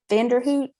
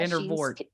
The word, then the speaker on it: Vandervoort: Vanderhoot? Yeah. Yeah. I liked her a lot, and I'm glad Vandervoort.